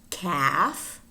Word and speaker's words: calf: And words in which the L is not pronounced. Calf, calf, chalk, chalk, should, half, half, talk, talk, folk, folk, palm, palm, wood, wood, salmon, salmon.